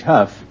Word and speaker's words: Hough: You say you pronounce H-O-U-G-H, Huff.